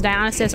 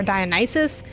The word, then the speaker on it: Dionysus: of the idea and dionysus can be pronounced dionysus or dionysus which is another reason